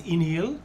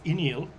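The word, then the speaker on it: Uí Néill: So there's Iníl, which is spelled U-I with a little over the I, space, N-E with a little over it, I-L-L. That's Iníl. Mm-hmm.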